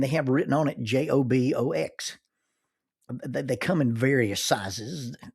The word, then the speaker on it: JOBOX: The official name of the j o b o x is actually pronounced jobox.